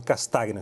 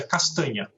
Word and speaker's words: Castagna: Castagna, está correta? Boa tarde para o senhor. Boa tarde, uma satisfação estar com vocês. Na verdade, a pronúncia é castanha.